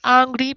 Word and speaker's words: angry: I was angry because they late. Ajá. I was angry. Esa A la pronuncias como una E.